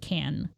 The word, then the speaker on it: Cannes: It's actually pronounced can.